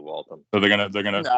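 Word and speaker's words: Waltham: I've I've heard the I've heard the city pronounced before it's definitely walon so they're gonna they're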